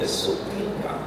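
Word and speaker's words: sopilka: Vova will play the accordion, and Alex will play the supinka.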